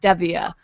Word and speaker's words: Stevia: that's where I learned that Stevia is actually pronounced Stevia so it had to change the way that